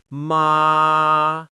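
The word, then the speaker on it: 妈: This means mother when spoken with the first tone. Try saying it with me slowly. First stretch it a little bit so your voice stabilizes. Ma long, high, and even.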